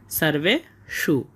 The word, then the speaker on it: সর্বেষু: তাই জন্য আমরা এর উচ্চারণটা করব সারভে সু এবং শেষে মূর্ধন্য স হওয়ার কারণে এর উচ্চারণটা আমরা গভীর থেকে করব। সারবে সু আমরা প্রথম চরণটা পেয়ে গেলাম। অয়নেশুচা সারবেশু।